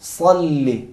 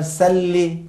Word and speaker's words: صلی: صلی. اگر سلی کہیں تو معنی بھی چینج ہوتا ہے.